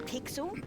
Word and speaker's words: Pixel: My name's not Weird Guy, I'm Pixel. It's easy to remember because it rhymes with pickle.